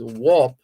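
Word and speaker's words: Wauchope: I believe her surname is Warp, which is spelled, can I remember that? W-A-U-C-H, oh goodness, C-H-A-P or something like that. But it's not pronounced as it is spelled.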